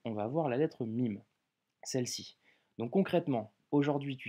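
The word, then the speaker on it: ميم: 9e consonne qui sera la lettre MIM le mime en arabe se prononce comme un M en français que tu retrouves en français dans le mot maman ok avant d'étudier cette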